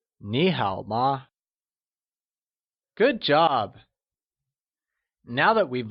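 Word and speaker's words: 你好吗: choosing the right option how do we say how are you in Mandarin would we say Nihao ma or would it be Nihal ma or simply niihama the correct way of saying how are you is Neha ma good job now that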